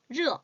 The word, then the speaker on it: 热: 발음 R 발음 热 잊어버리지 마세요.